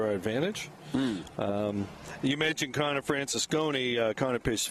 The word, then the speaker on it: Francisconi: Francisconi, that's how you say it.